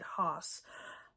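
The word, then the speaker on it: Höss: Rudolf Hoss, I guess, American Standard English, we would pronounce it Hoss, was the commandant of Auschwitz.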